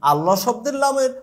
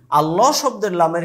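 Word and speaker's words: الله: লাম হচ্ছে পাতলা। কিন্তু ব্যতিক্রম হচ্ছে আল্লাহ।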